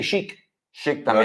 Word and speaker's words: chic: Algo cuando es chic, los franceses dicen algo es très chic. We say chic. Chic Lo también. decimos como a la SH, francesa.